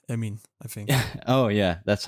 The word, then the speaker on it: Amine: at all, and it's high-profile names: Evander or Amine Harit. Amine Harit or Amina Harit? Emin. Both. He's Moroccan, right? Emin, I think. Oh yeah, that's how you pronounce.